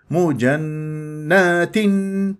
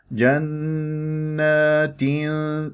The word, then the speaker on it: جنات: انطقها صاحب غير نبر خلاص جنات هكذا مجنات هكذا خطا صح الصح جنات الف ساكن قبلها نون